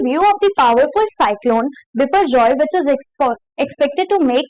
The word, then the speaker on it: Biparjoy: And pronounced as Biparjoy, तो इसको पढ़ेंगे कैसे? Biparjoy, ठीक है।